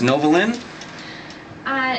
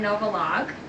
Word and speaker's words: Novolog: Okay, that was Novolin? Nope, actually not Novolin. I want Novolog.